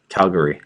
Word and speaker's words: Calgary: Vancouver or no Calgary sorry it's Calgary you didn't say it right Calgary nope Calgary nope Calgary thank you is that really how it's pronounced that's how it's pronounced there Calgary I was just making